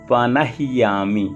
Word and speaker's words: पनह्यामि: इसके बाद बोलेंगे ओम यज्ञोपवीत मसि यज्ञस्यत्वा यज्ञोपवीतेनो पनह्यामि। यहाँ पर भी देखिए नह्यामि, हा के साथ ही या जुड़ा हुआ है, यानी हा आधा है तो जल्दी बोलेंगे पनह्यामि, और या के साथ